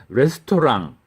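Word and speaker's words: restaurant: 그런 것도 있구요 뭐 가장 생활과 밀접하게 는 레스토랑 영어 발음으로 레스토랑 레스토랑 안 그렇죠 웨스트 토란 프랑스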